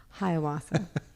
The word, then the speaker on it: Hiawatha: okay and then lastly can you help me pronounce this word i'm not going to say it right hiawatha thank you hiawatha this is a beautiful one okay it's true